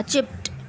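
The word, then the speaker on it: chipped: इसको कैसे पढ़ेंगे देखें उर्दू में, रेड उसमें देखें, चिप्ड, टी का साउंड आएगा, चिप्ड, ठीक है।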